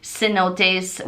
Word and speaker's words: cenote: entry into the um cenotes which in English is Sino which we call hundred dollar bills but Cenote which is the correct pronunciation in espanol is these waterfall caves